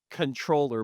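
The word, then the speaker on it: Comptroller: And then the first the last one is it's pronounced controller, but I like to say comproller because there's the P, but comproller carnage where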